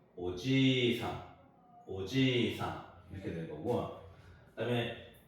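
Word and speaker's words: おじいさん: 오지 이상이라 그러죠도 마찬가지로 오지 이상 이렇게 하는게 아니고 지를 한 번더 발음하는 거 오지상 오지상 이렇게 되는 거고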